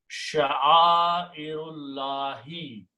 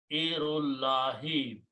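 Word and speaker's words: شَعَائِرِ اللَّهِ: And when you pronounce together, you do not pronounce alif in between, it becomes hamzatul wasl. So the combination of the word is sha'airullahi. Sha'airullahi.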